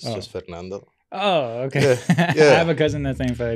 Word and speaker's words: Fernando: was too long is Ito no it's just Fernando oh okay I have a cousin that same